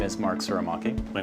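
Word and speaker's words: Tsurumaki: My name is Mark Suramaki. My name is Paul Lewis. Our firm's name is Lewis Suramaki Lewis Architects, which also is abbreviated to LTL Architects because no one can ever pronounce Suramaki properly.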